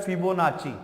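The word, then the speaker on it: Fibonacci: देखो इसके प्रोनाउंसिएशन जो है ना हर कोई जो है वो अलग अलग करता है, लेकिन अगर आप इसको प्रॉपर सीक्वेंस, इसको अगर प्रॉपरली आप प्रोनाउंस करो तो इसका मतलब होता है फिबोनाची, ठीक है ना।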